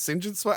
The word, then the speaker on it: St. John Smythe: Which is spelled St. John Smith, but that's pronounced St. John Smythe.